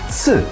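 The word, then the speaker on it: つ: the English alphabet but if you romanize it then it's TSU you have to pronounce the letter T and s at the same time it might be a little bit tricky but T has to sound a little bit stronger than s so soon so the lips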